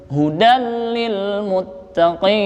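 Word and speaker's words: هُدًى لِلْمُتَّقِينَ: Hudan di sini ada namanya fathah tain bertemu dengan huruf lam. Itu namanya idgham bila gunnah. Artinya tanpa mendengung bacanya. Jangan hudal, salah. Yang betul hudal lil muttaqin.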